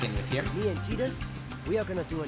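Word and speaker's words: Tidus: and Final Fantasy X-2, Titus's name was never canonically pronounced. And the reason for that is that his name is Titus by default, but you could actually rename him. Waka here has finally given us a canon pronunciation.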